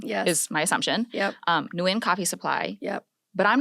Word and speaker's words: Nguyen: Okay, so Nguyen is a Vietnamese last name, which means the correct way to pronounce it is in the language of Vietnamese, which is a tonal language, and that would be Nguyen. Nguyen. Nguyen. It's in the back of your throat.